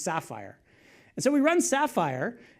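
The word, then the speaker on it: SPhyR: if I'm supposed to, is it sapphire or sphere, or how are you supposed to say that? Sapphire, all right, it's pronounced sapphire.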